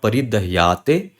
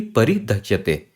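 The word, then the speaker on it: परिदह्यते: So it is not paridahate, it is not paridahyate, it is simply paridhyate. Paridhyate. Simple as that. Okay. Just again, I wanted to mention this because a lot of times I've seen a confusion is in this pronunciation.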